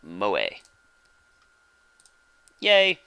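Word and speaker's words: 萌え: entertainment centered around characters who possess such traits pronounced moe a yeh just another day in Akihabara I take my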